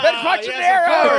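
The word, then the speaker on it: Ben Quadinaros: Oh my gosh, I can't even pronounce the name, but it's Ben Quad, whatever. Ben Quattrocero!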